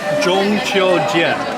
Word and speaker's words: 中秋节: 5 characters, 2 words. Okay. First word. First word. 中秋节. 中秋节. Yep. 秋. Q-I-U. 秋.